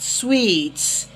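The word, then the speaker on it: suite: This word is pronounced sweets. S-U-I-T-E. Eco hotels and sweets. S-U-I-T is suits. S-U-I-T-E is sweets. Yeah. Both words are not homophones.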